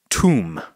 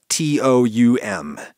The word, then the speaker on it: toum: It is spelled T-O-U-M. And I'm sure lots of people will have lots of thoughts about the way I am pronouncing it, but I've listened to lots of people pronouncing it, and toum is the best I can do within a voice that feels authentic to me and how I talk.